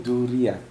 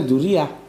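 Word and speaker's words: ذرية: Pahami dulu apa itu duriat. Sebetulnya itu bacanya duriah.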